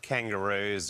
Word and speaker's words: kangaroos: The plural of kangaroo is kangaroos. So the S here sounds like a Z.